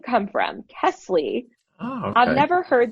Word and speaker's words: Kesley: Kesley.